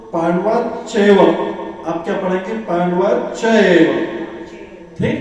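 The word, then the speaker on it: पाण्डवाश्चैव: Pronunciation सही होना चाहिए, क्योंकि संस्कृत में ऐड करते हैं तो बीच में श लग जाता है। आप तो पांडवाश्चैव, आप क्या पढ़ेंगे पांडवाश्चैव,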